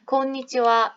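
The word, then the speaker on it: こんにちは: 이때 하는 다 정상적으로 발음을 하지만 곤니치와 이거는 사실 원래 의미가 오늘은 어떠십니까? 곤방와와 오늘 저녁, 오늘 밤은 어떠십니까? 라는 인사말이 하나의 형태로 굳어진 것이기 때문에 얘도 원래 조사였다. 오늘은 이라는. 그래서 와라는 발음이 그대로 굳어진 것이다.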